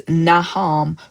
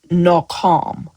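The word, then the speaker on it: nacham: And then that word comfort means naham. Well, it's actually nakam. Nakam. So, the way that the Hebrew word is spelled and the way it's pronounced is different.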